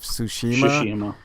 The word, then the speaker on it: Tsushima: I've heard different ways of pronouncing Ghost of Tsushima.